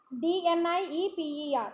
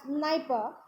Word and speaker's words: Dnieper: Dnieper, in that D is silent, it is pronounced as Dnieper, and the Olga are the major rivers in Europe.